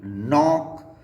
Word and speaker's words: knock: इसके बाद में के अगर एन से पहले आए तो ये साइलेंट हो जाता है, जैसे कि KNOW नो, KNOT नॉट, KNOB नॉब, KNEE knee, KNOCK नॉक और KNIGST नाइट और KNAP नैप।